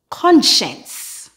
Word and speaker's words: conscience: sciencetist scientist sers scissors now in these two words the C is silent and the S sound is shh for example conscience conscious thank you very much